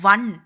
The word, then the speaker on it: one: ஏன் அப்படின்னா அது ஒன்றுன்னு நாம் ப்ரொனவுன்ஸ் பண்ணவே கூடாது. அதை ஒன் வா, அதாவது வா இன் அப்படி ஒன் அப்படின்னு தான் நம்ம ப்ரொனவுன்ஸ் பண்ணணும். ஸோ வா வரும் பொழுது வா அப்படின்றது தமிழ் உயிரெழுத்துக்களில் இல்லை.